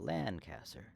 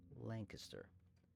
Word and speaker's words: Lancaster: county called Lancaster Pennsylvania we just pronounced it with a long a instead of Lancaster Lancaster it's just you know